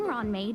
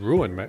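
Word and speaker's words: Ruan Mei: I've been saying Ruin May, or Ruan May. She's not pronouncing the U.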